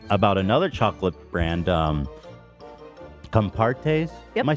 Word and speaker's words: Compartés: in that segment about another chocolate brand um compartes am I saying it right yeah okay brought